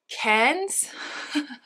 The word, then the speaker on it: Cairns: So we have Strange Journey by Maud Cairns. I asked Simon Thomas how you pronounce her surname, and I think I've still got it wrong. It's meant to rhyme with fair, but with an N in it.